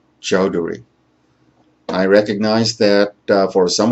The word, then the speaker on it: Chowdhury: of business and my name is dr chowdhury once again that's chowdhury i recognize that for some of you this